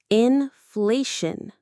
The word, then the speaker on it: inflation: The syllables are in fleun. There's our shun ending again. The stress falls on the middle part. Fle in fle. Shun. Say it with me. Inflation.